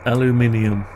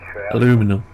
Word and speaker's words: aluminium: Aluminium. Yeah, it's not American, it's aluminium. Aluminum. Depends where you. If you're in America, it's aluminum. If you're in the UK, it's aluminium. Spelt differently as well, not just pronounced differently.